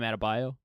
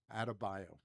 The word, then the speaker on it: Adebayo: How do you pronounce Bam's last name? Bam Adebayo. Adebayo.